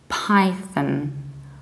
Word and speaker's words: Python: between your teeth and you don't say pawn but you need to reduce this ending so you say to Python Python when it comes